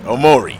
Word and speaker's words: Omori: Omorui. See, the announcer always has to make me think that I'm saying the name wrong after I've done some research to find out how to say it. Omori.